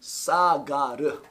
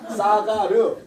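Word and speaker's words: סָגַר: 클레이오란 말을 쓰는데 이게 히브리어로는 사가르. 발음 잘하세요. 지금 어떤 분이 이거 흉내를 내는 분이 계신데 싸가지 아니에요. 싸가르. 아유, 싸가라가 나 차라리 싸가라. 음식 싸가라. 자, 싸가르라고 사가르라 약하게 발음할게요. 사가르.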